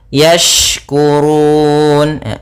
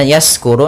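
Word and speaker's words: يشكرون: Yashkurun. Kemudian hati-hati dalam pelafalan shin, jangan sampai terdengar dengan sin. Apabila membacanya yaskuru, nanti maknanya berubah.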